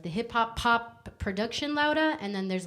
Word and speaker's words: Louda: my name correct, because it's Louda, because it's Laura, because it's Louda, but it's spelled Loud, like David, A. So it's like loud, como recio, and then so it's Louda. Yeah.